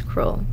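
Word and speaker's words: Kroll: contract for them now Cru is spelled how k r o l l okay so that's cruel okay yeah and they're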